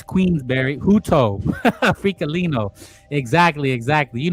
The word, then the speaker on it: Queensberry: I knew there was a quizenberry somewhere. Or isn't that a pie, too? Boenberry pie. It's Queensberry Huto freelino.